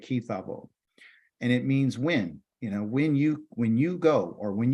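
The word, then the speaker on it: כִּי תָבוֹא: Our Torah portion this week has been called Ki Tavo, and that's how you say it, Ki Tavo.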